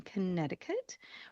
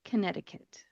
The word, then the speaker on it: Connecticut: When you look at the spelling, it looks like it should be Connecticut. Connecticut. However, we do not pronounce that middle C in front of the T in Connecticut.